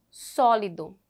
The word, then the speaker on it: sólido: a sílaba tônica né e a outra sólido a seta e a sílaba tônica só a até penúltima Aqui nós temos proparoxítonas